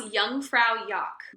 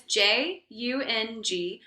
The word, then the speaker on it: Jungfraujoch: So so it's pronounced Jungfraujoch, but I'm saying it very American right now. But again, it's Jungfraujoch.